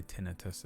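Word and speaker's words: tinnitus: Tinitis. Tinitis. Oh, I say tinitus as well. Been Americanized. But it is tinitis, isn't it?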